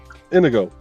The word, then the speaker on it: Inigo: never pronounce the name it's just Indigo without the D yep yeah Inigo mhm yep all right